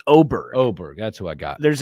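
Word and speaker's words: Åberg: I think it's Oberg. Oberg. That's who I got. There's an A, but I think it's pronounced as O.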